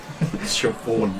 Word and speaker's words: Siobhan: Siobhan, you crit. Yeah. I love it when they, like, because we customers that come to work and, like, spell Siobhan, like, Chevaughan. Yeah. Like, Chevaughan.